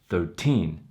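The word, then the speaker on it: thirteen: is the tens number when you have a teens number the stress the syllable stress is on the team the second syllable so for example 13 13 second syllable when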